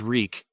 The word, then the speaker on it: Reek: he sheathed it reek my name is reek it rhymes with weak reek bent to his